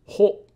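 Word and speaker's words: ほ: He, ho. It's pronounced like ho in ho or ho ho ho ho.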